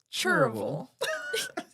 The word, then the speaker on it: Cherryville: He's like, "Well, you said Cherryville, and people around here mostly pronounce it Chur-ville."